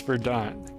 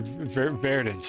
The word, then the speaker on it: verdant: And that's how we learn to pronounce verdant. Or verdant. Verdant was like the American version. Verdant was like probably how you pronounce it in French. Verdant was how you say it in English.